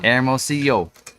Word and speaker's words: Hermosillo: did learn to say Hermosillo. Wait, did I say it right? Hermosillo. Hermosillo. This week. Thank you, Blanca. So it's anyway, two L's, yo, yo baby yo, she told me.